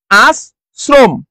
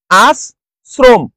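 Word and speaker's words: আশ্রম: আমরা দেখব রাজশাহী বোর্ড রাজশাহী বোর্ডে আস শ্রম আস শ্রম তাহলে এখানে কি চেঞ্জ হলো স্যার যদি র ফলা থাকে সেইটা আমরা কি করে ফেলতেছি সেটাকে আমরা দুইবার উচ্চারণ করতেছি আস শ্রম তাহলে মুসটা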